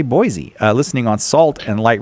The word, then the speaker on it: Boise: In English, when we have a letter S between two vowels, it is frequently pronounced like the letter Z.